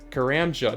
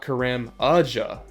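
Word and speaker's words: Karamja: what I'm doing wrong I have been doing it wrong oh crap oh I put an extra syllable in there it's carranza not Quran Raja I basically put an extra a before the J car Amiga oh shoot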